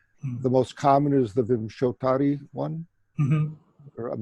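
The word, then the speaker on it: Vimshottari: The most common is the Vimshotari one. Mm-hmm. I'm not sure I'm pronouncing it right. You're right. It's the Vimshotari Dasa.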